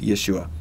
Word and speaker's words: Yeshua: his name in English a lot of people say Jesus but his name in Hebrew is Yeshua and it means something